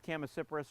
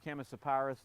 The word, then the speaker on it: Chamaecyparis: This tends to be a smaller variety of Chamaecyparis or Chamaecyparis, depending on how you want to pronounce it.